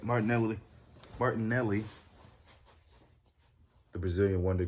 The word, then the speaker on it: Martinelli: out um about how martin land martin nelly let me say his name right martinelli martin nelly the brazilian